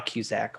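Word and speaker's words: Kucak: kuzak can you please state your name and spell it for the record uh yes i can my name is cusack last name being spelled k-u-c-a-k excellent mr kuzak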